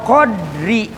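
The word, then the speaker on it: قَدْر: Nah, wal qadri bisukuni dali, adapun jika qadar itu qadri dibacanya sukun, tadi kan qadarun, qaf dal ro, qafnya patah, dalnya patah, qadar. Sekarang bagaimana kalau dibacanya qadri, tidak memakai apa? Patah. Bisukuni dali, disukunkan dalnya. Wa fathiha, dan patah dal.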